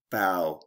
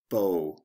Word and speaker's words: bow: cow now down plow bow or bow there are two ways to pronounce this word six o h the